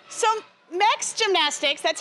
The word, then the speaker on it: MEKS: partners I know I know all right so max gymnastics that's how you pronounce it if you had any questions next